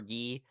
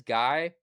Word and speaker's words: Guy: I know it always in the subtitles it always says guy. Um I pretty sure it's pronounced G. Correct me if I'm wrong in the comments, but that's exactly what it sounds like in Japanese.